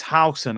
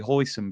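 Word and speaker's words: Huijsen: I believe it's Howson, how you say it. I just say Hoyson because I'm sure I ordered that in the Chinese takeaway one. You know what I mean? Yeah, Dean Howson, is it?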